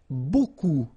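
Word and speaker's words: beaucoup: you want to use Buu Buu means a lot of it look it looks a bit strange Buu like that remember you don't pronounce the final P okay and then you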